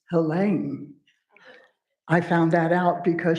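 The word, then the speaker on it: Helene: So, for as long as I've known about her books, I've called her Helen. Turns out it's pronounced Hela.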